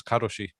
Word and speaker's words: karoshi: way, the term for work to death is karoshi.